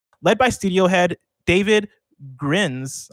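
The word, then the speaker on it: Grijns: Led by studio head David Grins, I'm going to say Grins, it's spelled G-R-I-J-N-S, which is, I've never seen that before, Grins, and creative director Roland Lesterlin.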